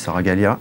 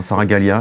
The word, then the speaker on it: Saragaglia: Bonjour Boris Saragalia. Bonjour. J'ai bien prononcé, hein, Saragalia, c'est oui, pas facile. Oui, tout à fait, très bien.